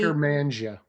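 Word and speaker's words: Akkermansia: It does feature a probiotic for gut health, and I cannot pronounce this word. It's AKKERMANSAI. It's a specialized probiotic, and then also just basically, Eckermansia.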